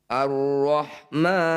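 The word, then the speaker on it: الرحمن: Bismillahirrahmanirrahim Arrahman alif lam diikuti tasydid disebut bacaan Idgham Syamsiah cara bacanya bunyi lam ini ya ini abaikan kita abaikan dianggap tidak ada langsung dibaca pada huruf yang bertanda tasdid nah alifnya ini dibaca karena berada di awal bacaan atau di awal ayat makanya terbaca Arrahman kita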